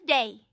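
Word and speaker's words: Dei: His name was De. That is spelled D E I. Day had won most people over when he was still a prince.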